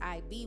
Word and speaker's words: ib: don't say cuneiform but hieroglyphics is pronounced as if which is ib which translates as to